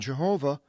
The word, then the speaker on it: Jehovah: English as Lord and pronounced by some as Yahweh and Jehovah contains the yo-dee-hey and